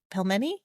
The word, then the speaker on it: pelmeni: I'm just selfishly asking now for me, but like any dumpling recipes, those, because I still think about those pelmeni. Did I pronounce that right?